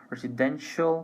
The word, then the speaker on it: residential: Well, one thing that I would like to mention before, pay attention that even though we have different spelling here, we have TINAL and CIAL, pronunciation is exactly the same, residential, commercial.